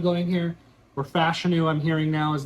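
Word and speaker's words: Fashanu: is though I've had a lot of Olu fanu going here or fashu I'm hearing now as it's pronounced post combine we've seen a lot of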